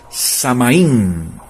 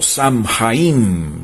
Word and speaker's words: Samhain: Ellos la llamaban Samaín o Samhain, depende de la pronunciación que usted quiera hacerle o decirla.